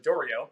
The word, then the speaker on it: Doriot: a man named george dorio so he's uh french so there's the doriath there's the u.s pronunciation and then there's the french pronunciation of dorio he was a harvard